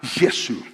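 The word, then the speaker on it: یسوع: llama a Jesús y se pronuncia la palabra yesu y este nombre en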